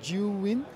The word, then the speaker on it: Zhiyun: have a bit of a hard time to pronounce the name of the company so you win cheering yes you caught it okay and you